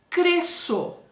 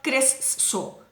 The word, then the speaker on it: cresço: também é um dígrafo sc cresço s c cedilha também o encontro de duas letrinhas com o único sol eu não falo cresço cresço também tem um ah